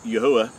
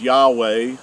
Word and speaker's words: Yahuah: how we know that his name is pronounced as yahuwah and not as what most people think as yahweh or jehovah and all these uh